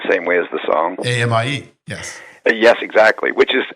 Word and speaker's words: ami: AMIE, yes.